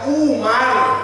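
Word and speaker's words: عمر: wawunya ini dibacanya beda kalau enggak ada waunnya dibaca Umar Umar Bin Khattab tapi kalau ada wawunya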